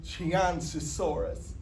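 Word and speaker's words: Qianzhousaurus: For example, X is sh and Q is ch. So you pronounce it Chianensisaurus even though it starts with a Q.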